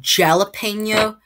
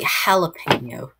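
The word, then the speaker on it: jalapeño: sounds like um h so instead of saying jalapeno it you say jalapeno um let's go let's go do some stuff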